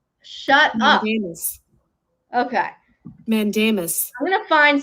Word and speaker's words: mandamus: Mandamus. Shut up. Mandamus.